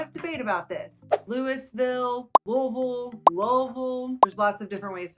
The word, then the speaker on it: Louisville: Louisville, Kentucky. I've heard everything, and there's a lot of debate about this. Louisville, Louisville.